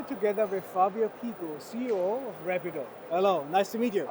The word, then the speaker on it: Rapido: about to launch soon in the market called Rapido or Rapido actually is the uh pronunciation originally which is you know uh nickname